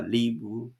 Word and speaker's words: live: He shall purify the house with the bird's blood, the fresh water, the live bird. 여기는 이제 라이브라고 읽어야 되겠어요.